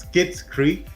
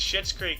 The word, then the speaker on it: Schitt's Creek: In 2015 TV comedy, I hope it's pronounced Skits Creek. Nope. Oh my god, no. It's Schitt's Creek, dude.